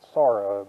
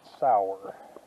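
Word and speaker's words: Sauratown: do most of the sour town trail tomorrow s-a-u-r-a-t-o-w-n and as i've been told the locals pronounce it not sorrow but sour dear i've scared up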